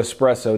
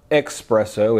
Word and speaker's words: espresso: so what makes espresso espresso now it's not expresso it's espresso i'll probably say it